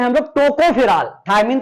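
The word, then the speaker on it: tocopherol: इसको टोकाफेरॉल भी कहेंगे, कहते हैं, बट यहां पर जो है ओ साइलेंट है, तो आप टोकोफेरॉल ही बोलेंगे, टोकाफेरॉल, टोकाफेरॉल मतलब कि ऐसे टोकाफेरॉल, ओके, टोकोफेरॉल।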